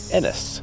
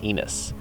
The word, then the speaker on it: Ennis: going to our Airbnb in Ennis not Enos uh we looked up